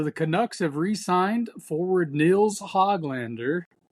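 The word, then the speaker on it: Nils Höglander: So the Canucks have re-signed forward Nils Hoglander.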